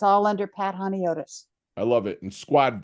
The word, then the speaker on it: Honiotes: it's all under Pat hotus I love it and Squad that is spelled h o n IO Tes and it's just like if you say hi hone and then otus I love that I